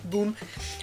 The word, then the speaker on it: Bum: name huh in Colombia the word bum is pronounced like boom oh so bonbon boom